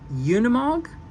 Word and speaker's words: Unimog: so the mercedesbenz I always say this wrong Unimog Unimog right Unimog I think is how you